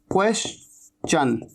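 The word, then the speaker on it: question: इसे कैसे कहते हैं, ये बड़ा इंटरेस्टिंग है, क्वेश्चन, ये च जरूर बोलना है, क्वेश्चन।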